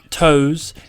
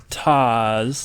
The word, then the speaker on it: Toss: But I was like, hey guys, it's not toes, it's not toes, it's Toss, not Toss.